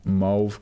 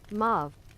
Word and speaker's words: mauve: Dash 2 is a 3-meter tall, hairless humanoid with deep mauve complexion which constantly emits a low level of light. How do you say this? How is this pronounced? Mauve. Mauve. And mauve means a pale purple color.